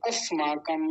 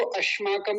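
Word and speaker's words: अस्माकम्: अस्माकम, ये दंत्य सकार होता है, दांत से बोला जाता है, स ना कि श। अगर कोई इसको अश्माकम कहे तो वो गलत है, अश्माकम नहीं अस्माकम, ऐसा हो गया।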